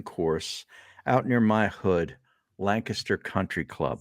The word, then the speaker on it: Lancaster: out near my hood Lancaster Country Club say it right Harry Lancaster not Lancaster it's Lancaster I definitely say Lancaster